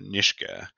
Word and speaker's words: Nishga: n-i-s-g-a apostrophe a and the book's title is n-i-s-h-g-a um with a pronunciation uh nishka and and the one